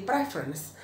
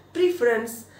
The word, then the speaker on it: preference: Prefer bacanya prefer, tapi kalau udah kata benda jadi preference. Nah orang pasti bacanya preference seringnya.